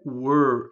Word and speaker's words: were: Que o verbo to be na affirmative é o were, não é o where, tá, gente? O where é outra coisa, né? O where é onde tem um H ali depois do W, né? É diferente, a pronúncia é were, ela é fechada, tá? Were.